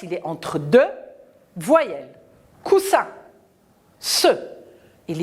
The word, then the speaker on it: coussin: que le s il est entre deux voyelles coussin ce il y à deux aces doubles consonnes